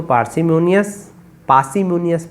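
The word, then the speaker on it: parsimonious: कम खर्च करने वाले को मितव्ययी कहते हैं, इंग्लिश में उसको पार्सिमोनियस पढ़ते हैं, उसको रा का उच्चारण नहीं होता।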